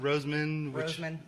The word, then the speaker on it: Rosamond: understanding there is another location in Rosamond yes Rosemond Rosman there we go I said it right about